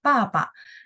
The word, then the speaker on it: 爸爸: Jadi B baca P ya. Terus masukin nadanya nada berapa? Nada 4 ya gitu ya. Papa.